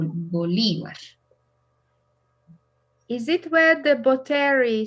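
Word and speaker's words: Bolívar: is a park called and the accent is in the second syllable bolivar is it where the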